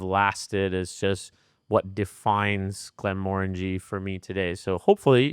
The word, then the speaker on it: Glenmorangie: So this is the Glenmorangie, one of my favorite whiskies, Glenmorangie, like orangey is how I was taught to remember how to pronounce this whisky, not Glenmorangie, as most Americans would say.